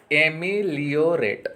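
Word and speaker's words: ameliorate: एमिलोरेट, एमिलियोरेट उच्चारण हो जाएगा।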